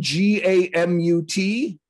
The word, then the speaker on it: gamut: goes, said the word G-A-M-U-T. Mm-hmm. As the whole gamut. Yeah, I don't mind the accent on that syllable. It's you want the whole gamut.